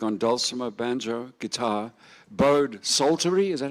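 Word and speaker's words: psaltery: He had the honor of doing the hammered doulamer and bode sulttery. Silent P again.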